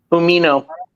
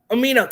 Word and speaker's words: Umino: Is it Umano? How to pronounce that one? Umino. Omino, thank you.